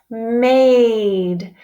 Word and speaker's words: made: That's right, it's made. The A is making a long sound now.